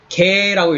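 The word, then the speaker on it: γῆ: earth를 이제 한국말로는 세상이라고 하는 건데 사실 여기는 코스모스가 아니라 이거는 개라고 읽습니다. 감마 에타 해갖고 개.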